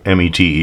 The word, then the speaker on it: METE: say it's pronounced uh me te is pronounced meat as a meat out punishment some people say met